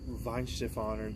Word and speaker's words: Weihenstephaner: And then I finally had the Weihenstephaner, that's how they say it in Germany. Weihenstephaner, that's how I would say it.